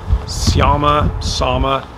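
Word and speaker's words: Särmä: The Sama, that's how it's pronounced, TST line.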